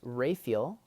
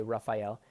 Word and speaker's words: Raphael: so my dad's name first of all is rayfield as he pronounces it some people say raphael but you know there's three archangels in scripture